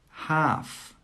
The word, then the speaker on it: half: Half, half. Walk, walk. Yoke, yoke. All of these words have a silent L.